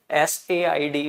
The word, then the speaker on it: Port Said: One is Port Said, S-A-I-D. It is pronounced as Said.